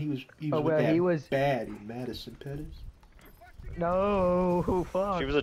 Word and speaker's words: Pettis: And he was bad in Madison Pettis.